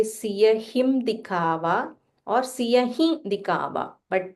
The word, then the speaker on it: सियहि: Siya him. You can either say Siya him dikava or Siya hi dikava. But when you say he, make a slight nasal sound.